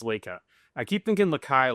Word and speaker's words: Laika: It's Laika. Laika. Lakai. Spell it again. Laika. Can you use it in a sentence? Laika, the dog, flew into space. L-A-K. Laik. L-A-I-K-A. A. I keep thinking Lakai? Laika. Light? Laika.